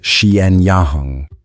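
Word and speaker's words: Xianyang: He built a network of roads radiating from his capital at Shiyang, pronounced Xien Yahang, linking every corner of his empire.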